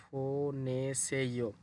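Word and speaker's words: 보내세요: ফোনেসেইয়ো বিউপ শব্দের শুরুতে আসলে ফ হবে, তাহলে উচ্চারণ হবে ফোনেসেইয়ো।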